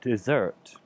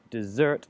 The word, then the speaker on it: desert: past tense is caught desert and desert now the let's say the stress is on a different letter in each of these words but a desert the first is like the Sahara and then the desert you notice the slight change their desert is like